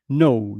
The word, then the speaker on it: know: The knowledge that I I'm saying for instance knowledge knowledge is to know that K is not pronounced in English like know do you know but